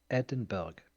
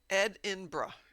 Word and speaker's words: Edinburgh: The locals do not pronounce the G.